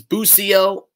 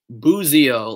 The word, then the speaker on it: Busio: the correct pronunciation is busio others say boozio like it's uh z instead of an s because it is an italian name his uh gianluca's father